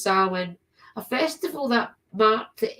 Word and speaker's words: Samhain: In fact, the origins of Halloween go back thousands of years to the Celtic celebrations of Samhain, pronounced Samhain, a festival that marked the end of the harvest season and unearthed in the new year.